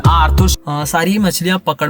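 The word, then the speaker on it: Arthur: आर्थुर छोटा रहता है, वैसे उसका नाम आर्थर है, मेरे को पता है, मैंने जानबूझ के आर्थुर किया क्योंकि वो आंसू के साथ राइम करता है, और कुछ लोग आर्थर को आर्थुर भी प्रोनाउंस करते हैं।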